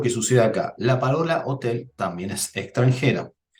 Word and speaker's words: hotel: sucede acá la parola hotel también es extranjera en italiano la letra h no tiene pronunciación es muda al igual que en